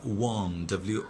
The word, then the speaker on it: won: The Portuguese conquered, লিখো জয় করা, ওয়ান, WON, ওয়ান, ওন না, আবার উচ্চারণ আমরা বলে দেখবো ওন, OWN না, এটা WON, উইন, ওয়ান, like that.